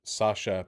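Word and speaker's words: Sacha: Sounds like a Sasha, but it's spelled like Russian with CH, you know?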